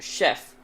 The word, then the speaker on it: chef: with th not SH the reason as to why it's pronounced chef is because it's a French word english done it from